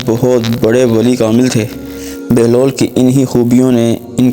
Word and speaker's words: بہلول: سے واقف ہوں گے۔ بہلول کی بے پر پیش اور ہا پر جزم ہے، جس کی وجہ سے آپ کا اصل تلفظ بہلول ہے، جس کے معنی